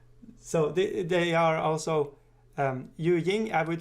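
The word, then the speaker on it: Yu Jing: occasions let's see so they are also um yu ying i would say but you shin is the way you want to pronounce it anyways so the figure of mao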